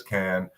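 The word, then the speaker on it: Cannes: South where the film festival is that is can um Bay is the is the proper pronunciation but you are very close um did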